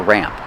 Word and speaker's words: ramp: But it's definitely a ramp. Pronunciation, use the short A sound like black cat, ramp. The A sound changes a little before the M. It goes more nasal in your nose.